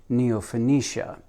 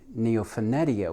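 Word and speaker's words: Neofinetia: That's how he pronounces it, Neophonetia. He sent his son to Japan to study with the same master, and the son pronounces it Neophonetia. So even within the same family and the same mentor, they can't come up with the correct pronunciation.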